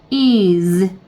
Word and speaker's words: is: 그 다음에 얘는 is. z 발음이에요. s가 z 발음을 나서 is.